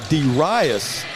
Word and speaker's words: Darius: Darius is the way you pronounce his name.